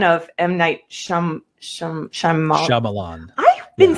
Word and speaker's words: Shyamalan: I'm like, we need to do a run of might sham sham shaman Shyamalan.